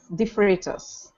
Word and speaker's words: De Freitas: a little bit about your background um it's defas I believe is how you pronounce the last name close it's defus defus I didn't want to butcher otherwise I